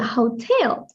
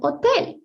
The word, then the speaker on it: hotel: will see the same, but it's not pronounced hotel. It's called hotel, hotel, because the H in Spanish is silent. So, hotel will be hotel.